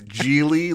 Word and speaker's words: Gigli: Sean, it's Gigli, like it rhymes with really.